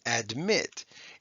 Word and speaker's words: admit: So look at admit. It's not admit. Okay, that would be long.